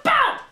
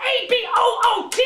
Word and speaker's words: about: It's about A-B-O-U-T, not A-B-O-O-T! Stop saying a boot!